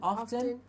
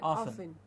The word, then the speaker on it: often: of Britain and America who would say softened and often but that's a very small percentage and we do not need to follow that we will stick to the standard pronunciation and say sovereign and often yes and that's that's